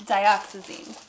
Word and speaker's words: dioxazine: say it with me listen I can't say words unless I hear them it's dioxazine when gogan's a name